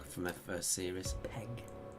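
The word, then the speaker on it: Pegg: from their first series Peg Peg I keep calling him Pang don't I we've got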